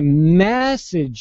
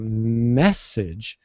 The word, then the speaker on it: message: going to message you notice how I'm really hitting that second syllable uh in the second word massage meaning I'm gonna like rub your shoulders massage um so it's uh message massage notice I'm putting the accent on different syllables so the first one I'm going to send you a message I I'm going to stress that first syllable and I'm saying mess